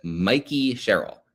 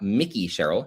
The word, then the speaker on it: Mikey Sherrill: I will start with the governor-elect, who is Mikey Sherrill, not Mickey Sherrill. She is not a mouse.